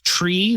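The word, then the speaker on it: trie: don't make any sense my biggest pet peeve is tree that's spelled t r i e why would you do that it's a data structure it's called a tree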